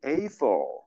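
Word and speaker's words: Eiffel: 근데 이거를 에펠이라고 발음하지 않고, 정확한 발음은 에이펠.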